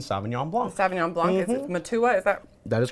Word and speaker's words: Matua: new New Zealand Sauvignon Blanc Avignon blonde you Matua is that that is correct ah look at me pronouncing things correctly this is nice even without